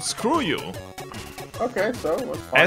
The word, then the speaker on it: SKRJU: SKRJU. Screw you. Demo zoo org. I have no idea what the fuck you're talking about. There's a group called Screw You. Okay, so what's SKRJU.